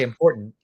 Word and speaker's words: important: from I don't know it's not guttural it's glottal so it's a glottal stop we say important so we just like we go from important we go from the ER to um important important we